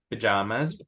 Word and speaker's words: pajamas: Se escribe con Y o se escribe con A, pero siempre se pronuncia pajamas. Pajamas. Se ha escrito con Y o con A, it's always pajamas.